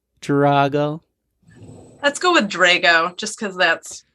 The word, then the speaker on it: Drago: is with the with drago it should be drago it's sicilian but three generations of rochesterians have made it into drago can i use drago do you like drago let's go with drago just because that's how